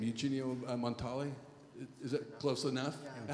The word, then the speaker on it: Montale: You know, your great poet, I'm going to mispronounce his name, Eugenio Montale? Is that close enough? Yeah. How do you really say it? Montale.